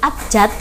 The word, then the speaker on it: abjad: Meskipun dalam pelafalannya seperti huruf T, abjad, tapi tulisan yang paling benar atau tulisan bakunya itu abjadnya pakai D.